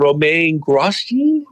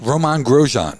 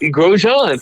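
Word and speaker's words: Romain Grosjean: shows two Chevy drivers, and I'm going to butcher their names here. Augustine Kandumpino and Roma Grashi. He's a French guy. Roman Grojan. Grojan.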